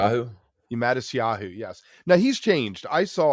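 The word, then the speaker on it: Matisyahu: I'm not going to pronounce his name Mattis right. Yahoo. Mattis Yahoo, yes.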